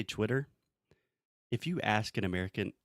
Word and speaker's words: Twitter: Okay, the first sound, twi. Twi. Tur. Okay, but when you say it fast, the second T will be a little bit softer, so Twitter.